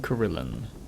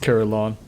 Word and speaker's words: Carillon: of a superior okay return to karilyn actually i looked it up on google it's pronounced carillon huh i'm a dummy all right we're hearing carillon and uh let's talk